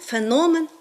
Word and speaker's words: феномен: вихованець з давніх давен феномен а не феномен таке слово в українській